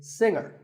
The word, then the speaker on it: singer: a silent letter is singer the G is silent now we say finger